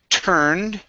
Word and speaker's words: turned: go to the word turned um where'd you go okay so instead of we turned okay give me an er sound we turned off we